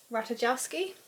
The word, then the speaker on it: Ratajkowski: Ratajkowski.